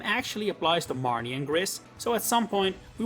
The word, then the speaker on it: Griss: Interestingly enough though, his Japanese name is pronounced the way it’s pronounced in French, gris, while we while in the West say it incorrectly really.